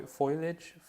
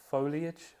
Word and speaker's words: foliage: some how do you say the word fo foilage foliage foliage that's it I think that's the word